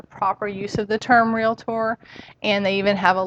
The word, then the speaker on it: Realtor: has but one pronunciation realtor that's two syllables it's not realtor and i can tell